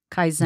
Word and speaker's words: Kaizen: It's this concept called, and tell me if I'm pronouncing this right, Kaizen. Kaizen.